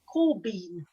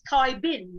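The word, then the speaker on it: Caibín: See, it's C-A-I-B-I-N, but it says it's pronounced Corbeen. Do you know? Corbies, yeah. Corbeen. I didn't know if it like it said, it sounds like it's Kai Bin, doesn't it?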